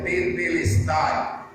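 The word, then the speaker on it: τετέλεσται: A palavra está consumado na Bíblia, vem de uma palavra grega, cuja pronúncia é tetelestai.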